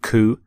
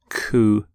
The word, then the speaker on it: coup: with the pronunciation of coup you don't say the P don't sound a P at the end coup here's the your next